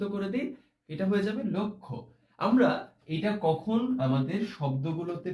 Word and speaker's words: লক্ষ্য: এটার উচ্চারণ হবে লক্ষ্য। দেখেছো এখানে দুটো উচ্চারণ এরকম ওকারে পৌঁছে গেছে, অর্থাৎ একটা সংবৃত উচ্চারণ আমরা বলি এটাকে। আর আগের যে উচ্চারণটা সেখানে আমরা একটা বিবৃত উচ্চারণ করেছি, লটাকে একদম ল বলেছি, আর এখানে বলেছি লো, তারপরে আবার ক্ষীয়টাকে আমরা বলেছি খো, অর্থাৎ লক্ষ্য।